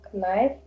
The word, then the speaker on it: knife: Or knife. Knife. Okay. By the Knife. way, mind your knife. K is not pronounced at the beginning. Knife. Knives.